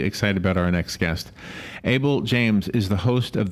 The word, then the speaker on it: Abel: Abel James.